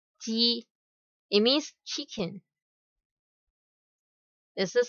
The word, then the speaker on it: 雞: And for this word, we pronounce as ji, ji.